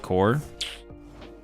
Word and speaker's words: Corps: I was like, I've never heard anyone say Marine Corpse before, though. But I've heard people say Marine Corps. I was like, is that is this just how you spell Marine Corps? Spelled corpse pronounced core.